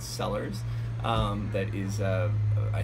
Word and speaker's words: Cellars: so check it out sellers spelled with a c c e l l a RS um then